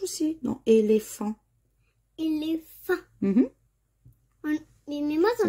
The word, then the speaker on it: éléphant: Et dans éléphant, il y a le H aussi, dans éléphant. Éléphant. Mhm. Mais moi, ça Là, n'entend dans pas le chic. H. Le H, il fait pas de bruit. Non, c'est un H muet.